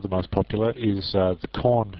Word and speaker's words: Korn: The most popular, or one of the most popular, is the Korn shell. Just coincidentally happens to rhyme with Bourne shell.